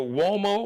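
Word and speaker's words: Uomo: Bruce Gage or Mario wo now wo is an Italian name so wo's got the W sound but it's spelled you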